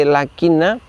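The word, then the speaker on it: لَٰكِنَّا: Ketika kita mendapati lakinna, kita juga membacanya pendek. Apa sebab? Karena alifnya adalah alif ziyadah.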